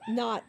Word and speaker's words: Noel: there's Goodman there's null it's spelled no o but it's called no I always said Noel they said it's no okay got that wrong